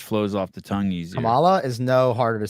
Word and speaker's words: Kamala: mispronouncing her name they know her name is Kamala Harris Why do you think they're mispronouncing it I think they're doing it purposefully